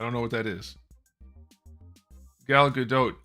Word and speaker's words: Gal Gadot: know what that is Gal Gadot you do pronounce the T in her name so sorry sorry about that